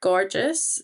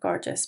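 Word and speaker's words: Gorgias: top tip tool and that is gorgeous. So, I think that's how you pronounce it.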